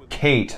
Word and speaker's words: Kait: a part of something Kate not cat excuse me dell as I the other guy is it us does it spell it k ay t kait ok well yeah that's Kate yeah the subtitles have clarified